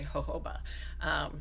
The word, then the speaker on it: jojoba: actually say jojoba and it's it's spelled jojoba but Siri butcher say every time I try and dictate it she does weird things when I say ho ho bah because she just can't